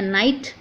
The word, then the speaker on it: knight: हम उसको बोलते हैं नाइट। KNIGHT यहाँ पे भी के साइलेंट है।